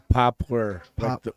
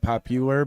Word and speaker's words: Poplar: have popular Creek Bowl Poplar like the tree yeah like the tree not popular but p-o-p-o-a-r thank you not that